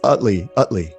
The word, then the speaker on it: Utley: I hope I'm pronouncing your last name right. You're doing great. It's Utley. Utley, okay, Jeremy Utley.